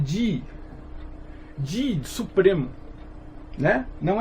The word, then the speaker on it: Tai Ji Chuan: Então, assim você tem uma pronúncia um pouco melhor. Você vê que o Tai Ji Chuan é Ji. Ji, supremo. Né? Não é Chi de energia.